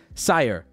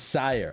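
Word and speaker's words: Syr: Get, you're just spelling it? Just tell me. Sire. Oh, Sire. It's Sire. Okay, Sire Ginger.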